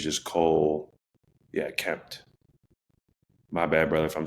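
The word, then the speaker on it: Kmet: And then I got Cole Kempment. Could be saying it wrong. I think it's just Cole. Yeah, Kempt.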